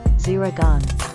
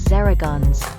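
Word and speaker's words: Zehra Güneş: players in the world zuragan you may also know her as zero guns which is how her name is spelled in Turkish zuragun is a 22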